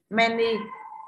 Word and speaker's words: many: Many, à many y dài cũng nhận trọng âm, Dương Nhan âm tiết thứ nhất nhận trọng âm many là men, tức là các bạn